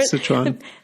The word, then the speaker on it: Sichuan: I did find numbing pepper from Szechuan. Did you pronounce that correctly? Yeah, Sichuan.